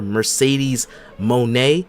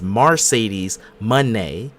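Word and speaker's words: Mercedes Moné: we WWE ingrates inbredads have been saying her name wrong. We've been calling her Mercedes Monae. That's not how you say her name. Her name is Mercedes Monet.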